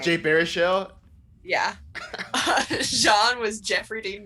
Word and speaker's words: Baruchel: Jay Baruchel.